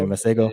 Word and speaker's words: Masego: Yeah, Masego.